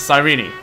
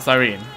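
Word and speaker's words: Cyrene: Apparently the E at the end is not silent because I don't know, Greek or something. Um, so yeah. So, I guess she is sirene, not sirene. One one more syllable.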